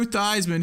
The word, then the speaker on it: Theismann: a director's chair and joe theismann who just craves attention so much he changed his name to rhyme with heisman i mean those